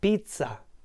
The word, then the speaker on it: pizza: by someone it's Pizza there are two letter z in the middle and so it's not pizza but Pizza pizza and with the delicious